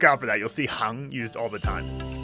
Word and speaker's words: 行: But yes, that is the word you would use for rows in a spreadsheet, hang.